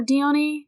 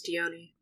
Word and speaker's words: Dione: And then is it Dion or Dione? I think it's Dione.